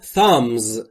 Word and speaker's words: thumb: You are all thumbs. You are all thumbs. Thumb یعنی انگشت شست و همونطور که میبینید بیشت ناخواناست و تلفظ نمیشه.